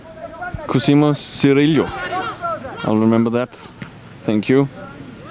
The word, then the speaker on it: Cosimo Cirillo: Pronounced Cosimo Cirillo.